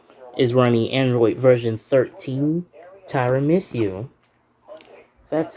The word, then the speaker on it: Tiramisu: Samsung Galaxy A51 is running Android version 13 Tiramisu.